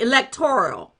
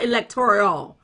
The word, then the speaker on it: electoral: women thank you Tony electoral not electorial Thank You tiny Oriole